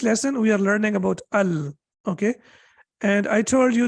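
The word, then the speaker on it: ال: with we cannot say ul and we cannot say ill we have to say Al that's the only thing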